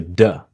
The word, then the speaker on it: the: So when you have the word the very quickly sounds like a duh.